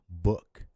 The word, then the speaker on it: book: This occurs when the double O is followed by a K. For example, look, book, cook, hook, etc.